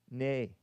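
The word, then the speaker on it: née: Is it Nee or nay? Real quick, this is important to me. Oh, it's pronounced nay.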